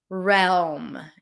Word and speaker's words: realm: We do hear the L here. Realm. It's an R sound. An E. LM.